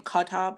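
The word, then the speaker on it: Kotb: interview with Hoda cob how do you even say her name kotob I hate that there's a te in the middle of her name but she sat down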